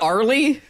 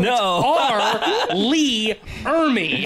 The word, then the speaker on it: R. Lee Ermey: R, first initial R, Lee, one syllable. Oh, it's not Arlie? No. R, Lee, Ermey. Oh, I always thought it was Arlie, like, is one word.